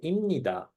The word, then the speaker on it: 입니다: 입니다, but sometimes it's, as you can hear me, I say 입니다. This becomes M sound. So just because there is N here, so it's easier to pronounce.